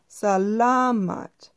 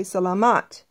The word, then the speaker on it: salamat: salamat thank you now remember when we were talking about the syllables the stress is usually on the second to the last syllable if there's more than one or two syllables in a word so it'd be salamat selamat I hear a lot of people say selamat that is incorrect it is a la motte thank you well long